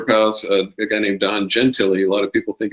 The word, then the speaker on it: Gentile: One of my favorite fighter pilots, a guy named Don Gentili. A lot of people think his name is pronounced Gentile, but it's Don Gentili.